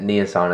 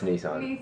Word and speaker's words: Nissan: that's pretty awesome and it's pretty amazing that nasan is sponsoring a video that I'm doing it's